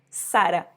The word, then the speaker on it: Zara: a mas em espanhol a pronúncia correta dessa palavra já que é uma loja espanhola é sara igual o nome de uma mulher que se chama sara